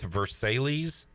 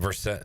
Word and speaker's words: Versailles: Jerry is in, I'm going to try to say this, North Versailles, Pennsylvania. That sound right? Spell it? Versailles. Versailles. It's French. Bonjour.